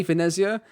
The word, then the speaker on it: Venezia: In English, you'd just say Venezia. So sometimes I might say Venezia. Venezia is how you're supposed to actually say it.